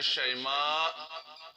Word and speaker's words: شیماء: ہے، بہتر ہے، لیکن یہ نام ہے شیماء، شین پر زبر، آخر میں حمزہ۔ شیما جو ہے اس کا تلفظ پرونانسیشن غلط ہے، اس کا پرونانسیشن شیما غلط ہے، شیما ہے اصل میں لفظ۔